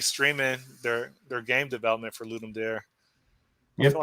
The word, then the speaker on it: Ludum Dare: It's Ludum Dare. yeah. There's a one of these things where half the people call it Ludum Dare and half the people call them Ludum Dare, which Okay. is the actual Latin pronunciation, I guess.